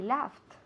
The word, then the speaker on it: laugh: Se escribe L-A-U-G-H. Pero se pronuncia así, laugh. Laugh, como si fuera L-A-F.